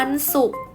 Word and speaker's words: ศุกร์: เห็น ไหม คะ ลูก วัน ศุกร์ ข้าว สุก ความ สุข สุข สุข สุข อ่าน ออก เสียง เหมือน กัน ทั้ง 3 ตัว เลย นะ คะ แต่